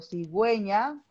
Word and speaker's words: cigüeña: hubiera diéresis, o sea, en el que pronuncio la U. Por ejemplo, cigüeña, whisky, ¿ya? Por ejemplo, también desagüe, ¿no? O sea, estoy pronunciando la U, no estoy dejándola de lado. Prácticamente ahí la U es